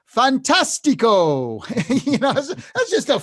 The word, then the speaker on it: fantastico: like like in Italian the word fantastic is pronounced Fantastico you know that's just a fun one Fantastico isn't that Fantastico um you know so but